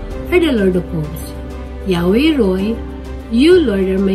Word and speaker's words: Yahweh: In Hebrew, it is written as four letters, pronounced as Yahweh, and is thought to